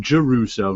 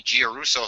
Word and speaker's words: Giarrusso: And I only found out 2 years ago he pronounces his name Giarrusso, not Giarrusso.